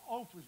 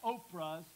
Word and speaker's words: Orpah: By the way, how many Orphas, not Oprahs, but Orphas do you know in life?